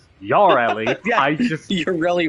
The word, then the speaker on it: Yareli: Uh, you could type in y or you could type in uh Yeah, because it's technically pronounced yelli.